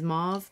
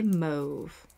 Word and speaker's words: mauve: I I heard that the correct way to say it is mauve but it just feels wrong to me so I like to say move okay so as I